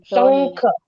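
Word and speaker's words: शङ्ख: शब्द और पहला शब्द श शंख शंख यस शंख ख का उच्चारण पूर्ण सिर्फ शंख बोला तो हिंदी हो जाएगा शंख शंख ख का उच्चारण पूर्ण आना है।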